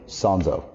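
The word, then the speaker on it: Sanzo: Sanszo. Sparkling water. Let's uh spell it first, please.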